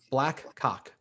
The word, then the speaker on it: BLAQCOQ: name of our band, I'm going to spell it first before I say it so I don't get in trouble. It was spelled BLAQCOQ. BLAQCOQ. Black Cock.